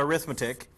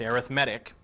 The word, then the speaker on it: arithmetic: okay an arithmetic sequence notice how I'm pronouncing that it's not arithmetic it's arithmetic an arithmetic sequence okay